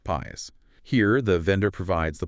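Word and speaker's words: PaaS: Easiest for you but least control right then there's platform as a service or pas pronounced pas here the vendor provides the platform operating system runtime environments databases middleware.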